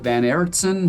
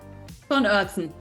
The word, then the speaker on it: von Oertzen: Is it Van Oertzen? How do you say it? Von Oertzen.